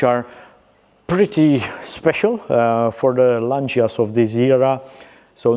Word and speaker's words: Lancia: In Italian, it is pronounced Lancia, and this is how we prefer to go about it.